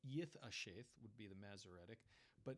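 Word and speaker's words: יִתְעַשֵּׁת: Tiberian pronunciation would be Yith Asheth. Yith Asheth. It would be the TH like in the word thing.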